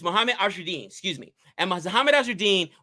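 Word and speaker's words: Azharuddin: It's Mohammed Azruddin, excuse me.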